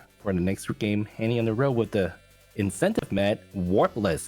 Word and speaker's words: Hany on the Road: So I'd like to show you one of my favorite games, Hany on the Run. I always keep saying it wrong. It's Hany on the Road.